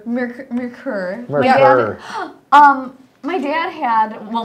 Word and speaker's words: Merkur: How do you say it, Marker? Merkur.